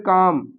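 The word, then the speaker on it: calm: फिर काम मतलब शांत और इसमें एल के बाद देखो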